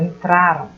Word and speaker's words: entraram: Então, no verbo aqui, nesse que estou apontando, entraram, né? A sílaba tônica ela é identificada aqui na penúltima sílaba.